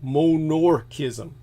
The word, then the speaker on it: monorchism: called monarchism are uh not monarchy like in royalty but monarchism spelled instead of m-o-n-a it's spelled m-o-n-o so monorchism monarchism meaning a person's born with